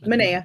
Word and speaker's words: Manaea: Manaea.